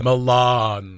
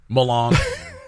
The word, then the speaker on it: Melanson: Guys, I'm going to write it down and how you pronounce it. Yeah. Milan. L-A-W-N. Yeah, L-A-W-N. Yeah. There you go. M-E-L-A-W-N. We'll work on it. S-U-N. Milan. Nailed it.